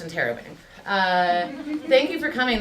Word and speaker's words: interrobang: point question mark in either order but it's pronounced interobang uh thank you for coming this is uh